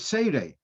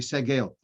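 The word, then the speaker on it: segol: the major part in the word sade i pronounce it wrong it's yeah so you've got the major and the minor according to this it should be the circle should be segal um okay and literature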